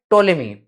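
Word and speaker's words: Ptolemy: Motion was proposed by टोलेमी piece silent है। पी is just like pseudopodia का P. Pseudopodia में P silent होता है।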